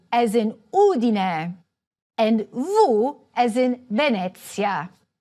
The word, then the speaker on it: Udine: However, some words are stressed on the third-to-last syllable, such as MAntova, GEnova, Udine.